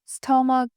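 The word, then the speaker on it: stomach: কিন্তু নিম্নুক্ত এই ওয়ার্ডগুলো সি এইচ একসাথে থাকা সত্ত্বেও এর উচ্চারণ হবে ক এর মত যেমন মন মেট্রিয়ক স্টমাক পেট্রিয়াক আশা করি তোমরা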